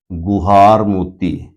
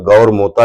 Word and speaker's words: गुहार मोती: देखिए, नाम के उच्चारण को लेकर बहुत समस्या है कि कई जगह पे गौर मोता लिखा मिलेगा, कई जगह गुहार मोता लिखा मिलेगा, बट इंग्लिश वर्जन में गुहार मोती लिखा हुआ है।